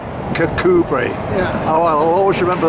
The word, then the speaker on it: Kirkcudbright: just asked this gentleman, how do you pronounce Kirkcudbright, which is what the English would say, because that's more or less as it's spelt, and that's how I've always said it. But what's the Scottish sort of translation of that?